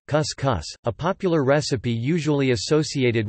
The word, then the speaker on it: cuscuz: Couscous, Portuguese pronunciation, cuscus, a popular recipe usually